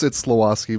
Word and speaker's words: Slawosky: Yeah, it's Slawosky, but Slawosky. What did I say? That's what Slawosky? you said. You said it right. I said it wrong.